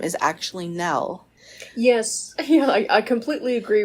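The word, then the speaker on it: Nelle: annoying it would be if your name is Nell and it's constantly mispronounced as Nelly yes and to have a last name Lee Nelly Lilly yes so yes she dropped it when she published to kill him Mockingbird because people would always mispronounce it as an Ellie and she didn't like that yeah even though it's spelled now like Belle if you look at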